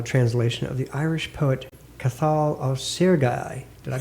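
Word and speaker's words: Cathal Ó Searcaigh: brought out a translation of the Irish poet kathal of sergai did I pronounce that right yeah pronunciation correct yeah I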